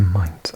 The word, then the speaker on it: Main: uh glinting with glass, steel and concrete skyscrapers, Frankfurt on the main, pronounced mine, is unlike any other German city, the focal point of a con connibation of 5.5 million inhabitants.